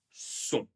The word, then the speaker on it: sont: La dernière personne du pluriel, ils, elles sont. Ils, elles sont. Ici, je vais presque tout prononcer, sauf encore une fois la dernière lettre. Ils, elles sont.